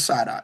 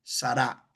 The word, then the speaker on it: Sara: Nosotros decimos Sara, la pronunciación correcta hebrea del nombre Sará. Aunque muchos judíos dicen Sara por la costumbre. Pero la verdadera pronunciación es sará. ¿Por qué? Porque el idioma hebreo es muy parecido al francés, que casi todas las palabras están acentuadas en la última sílaba.